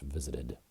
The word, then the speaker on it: visited: And I'm pronouncing this in American English, visited, with a D sound instead of a T.